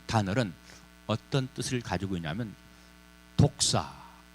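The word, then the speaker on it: δόξα: 여기서 이 영광이라는 단어, 이 영광이라고 하는 단어는 어떤 뜻을 가지고 있냐면 독사. 좀 뜻은 안 좋아요. 단어는 안 좋아요. 독사. 헬라어 발음이에요.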